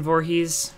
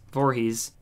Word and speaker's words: Voorhees: Wait, is it like Voorhees, like Jason Voorhees? Oh, it is. Okay, that makes sense. Voorhees.